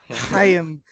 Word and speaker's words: Chaim: It'll be interesting to see how the new Red Sox GM Chaim Bloom handles. Did I pronounce his name right? You did not. It's like Middle Eastern. It's like the Chaim Bloom.